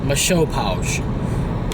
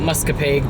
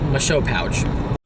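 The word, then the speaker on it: Mashapaug: Alright, just learned that the last location I was at is pronounced Mashopauge from my Google Maps, so not Muscapeg, but Mashopauge.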